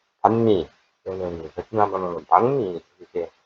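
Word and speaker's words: bánh mì: 동 정도 선에서 가세를 줍니다 방 방미는 그 반미 또는 베트남 방미 이렇게 발음을 하는데 뭐 방미도 2만 동 2 5천동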